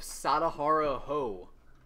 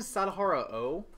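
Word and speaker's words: Sadaharu Oh: All right, we got a sketch card of Sadahara Ho. Isn't Sadahara O? Yeah, it's O. Definitely H-O instead of O-H. Fail on the sketch spelling. Definitely pronounced O.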